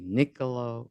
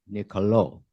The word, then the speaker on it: Niccolò: up to find out how I should properly pronounce makaveli's first name should it be Nicolo or Nicolo well you know the answer none of the